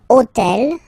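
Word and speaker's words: hôtel: took on purpose this hotel okay because it starts with Ash but remember that in French we don't pronounce Ash okay so basically the first sound of the word is the vowel o okay so for the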